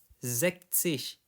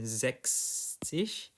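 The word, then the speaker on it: sechzig: Jadi di sini 40 50 zish. Ingat di sini bukan zekis. Jadi dia logikanya itu sama kayak 16 ya. Jadi enggak ada huruf S-nya di sini.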